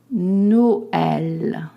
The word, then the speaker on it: Noël: letter I too, and it means that when you see this accent, you have to separate the pronunciation of the two vowels. What do I mean? Listen to me. Noël.